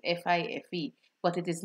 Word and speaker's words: Fife: um in a in a place called fifa i think that's why you pronounce it fife but it is not